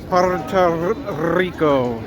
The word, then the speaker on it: Puerto Rico: If you can roll your Rs, Puerto Rico.